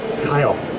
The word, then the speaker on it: Kyle: time that is correct am I saying it right kale one more time Kyle good memory that's Kyle everybody say hi Kyle